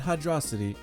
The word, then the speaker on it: Hydro City: Hydro City, not Hydrocity, Hydro City. If you pronounce it like that, you're wrong.